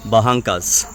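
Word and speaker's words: Barracas: बराकास लिखा हुआ है बट ये जो आर है ना आर को यहां पे मतलब बेसिकली जो र है यहां पे उसको ह प्रोनाउंस करते हैं तो द बंकास becomes बहंकास the name of द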